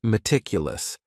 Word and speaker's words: meticulous: The next word is meticulous, and this word has 4 syllables, and the stress is on that second syllable. Meticulous, meticulous. That first syllable also has that schwa, that A sound, that reduced vowel sound.